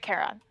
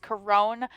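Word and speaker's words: Charon: great no notes great Caron which I have never ever ever once in my life heard pronounced coron I think that's just wrong um foreign is he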